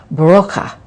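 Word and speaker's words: Brauche: old German healing tradition spelled B-R-A-U-C-H-E, but pronounced Broca.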